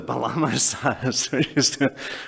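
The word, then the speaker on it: bağlama saz: But now I discover that, in fact, Chris, for all that he could play the thing wonderfully well, I actually mispronounced it, and it's called the Balama Saz, which has got no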